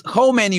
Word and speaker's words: Khomeini: Because it's Khomeini with an O, right? This is the former supreme leader, right? He died in 1989, right? And then obviously Ali Khamenei, right, with an A. So it's pronounced a bit different.